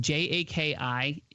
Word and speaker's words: Jaki: So it's pronounced Jaki.